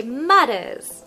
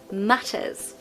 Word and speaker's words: matters: was American I'd say matters and it's more of a D sound d d but no in British we say the T matters now if you want